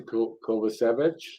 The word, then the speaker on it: Kovacevic: Harris with it to Kovacevic.